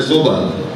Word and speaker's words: صبح: صحیح تلفظ ہے صبح. ہم اردو میں صبح کہتے ہیں.